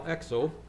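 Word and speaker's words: Exoo: of mine named al exo that's e-x-o-o but being dutch double o's get pronounced oh um he's not dutch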